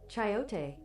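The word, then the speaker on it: chayote: Pronunciation. Chiote.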